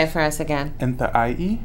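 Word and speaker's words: Nłʔay: So if you can see, Enta'ai is the Salish, actual Salish word for Missoula. Can you say it for us again? Enta'ai. Enta'ai.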